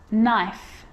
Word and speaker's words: knife: A K is not pronounced when it comes before an N like knife, no, เคมาหน้า n knee, จะไม่ออกเสียง knock, not, knowledge.